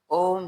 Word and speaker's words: ओम: हम आपको बता दें ओम शब्द तीन वर्णों से पूर्ण होता है। जिसमें प्रथम आ दूसरा उ और तीसरा म इन तीनों के संयुक्त उच्चारण से ओम का उच्चारण पूरा होता है।